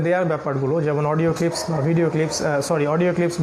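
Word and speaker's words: باء: একটা হলো বা, যেটা ঠোঁটের ভিতরের যে পার্ট, এই ভিতরের পার্ট থেকে উচ্চারণ করতে হয়, এটাকে বলা হয় বা।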